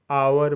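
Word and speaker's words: hour: M rhythm मतलब लय एच ओ यू आर आवर मतलब घंटा ए ओ एन ओ यू आर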